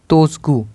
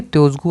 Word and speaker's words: Tshogdu: भूटान की संसद का नाम है तोसगू। ठीक है, तोसगू आपकी संसद का नाम है भूटान की।